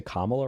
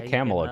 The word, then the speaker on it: Kamala: You can't say Kamala, right? Come on. I know. I I suck at pronunciation. Okay, that's my my flaw. Just say Camela.